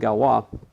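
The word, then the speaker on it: Galois: problem but then this fellow named galwa he's french it's spelled like this invented something that's based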